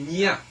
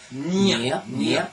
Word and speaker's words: Nghia: Et puis, on prononce pas Nguia, on dit Nia. En vietnamien, on prononce Ngia. On prononce pas le G. Voilà, il n'y a pas de G. C'est un peu le nasal. Nia.